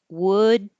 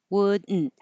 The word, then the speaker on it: wouldn't: Wouldn't. Wouldn't. This is the syllabic N, where the N becomes a syllable by itself.